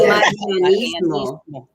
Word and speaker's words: Marianismo: Roll your R's, right? So Marianismo. Break it down again. Just Marianismo. Yeah. Marianismo. Yeah. Think of Maria.